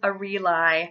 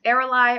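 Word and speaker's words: Ariel: it my next Eli alternative I have is a real I this name can also be pronounced Errol I or a relly however I think someone that likes sitting Eli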